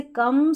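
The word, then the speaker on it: come: जैसे यहाँ पर देखें ओ के बाद में एक अक्षर छोड़कर लास्ट में ई है इन सभी में, फिर भी हम इसको ओ नहीं पढ़ रहे हैं, क्या पढ़ रहे हैं, अ प्रोनाउंस कर रहे हैं हम ओ को अ। जैसे कम, सम, डन और नन।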